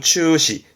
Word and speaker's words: 中止: 되는 부분이죠 요게 그렇죠 중지 발음은 추시 추시 음모는 시로 갑니다 중지는 추시 했던 거 정자입니다 정진의 스톱 태시